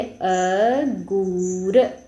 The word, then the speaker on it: अंगूर: अ के बाद उस अनुस्वार का उच्चारण कर रहे हैं हम। अंगुर।